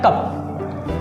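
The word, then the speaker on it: cough: अब एक होता है जब हमको खांसी वगैरह आती है तो कहते हैं कफ, कफ हो गया है, तो कफ नहीं बोल के होता है आपका कॉफ।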